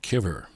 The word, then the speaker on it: cover: here in eastern massachusetts he's just playing kivur which is the old time uneducated new englanders pronunciation of the word cover given him no doubt